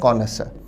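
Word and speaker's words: connoisseur: देखते हैं शब्द है कनस इसके भी प्रोनंसिएशन पर ध्यान दिया जाए शब्द का उच्चारण है कोनस कोनस का अर्थ है पारखी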